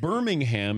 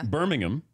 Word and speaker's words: Birmingham: it book yeah yeah it's like Birmingham is Birmingham Birmingham yeah yeah Birmingham Birmingham yeah but you guys do have a Birmingham we do mama you know that's fair enough cuz that's how you say it but if you were gonna come to Birmingham you've got to call it Birmingham or Middlesbrough it's Middlesbrough